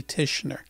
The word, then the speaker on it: Tichenor: from oldham county tischener it's not ticking or uh it's tish and you know